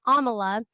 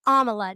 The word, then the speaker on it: Amala: When you reported on Amala, her name is Amala, not Amala. She says it in her videos.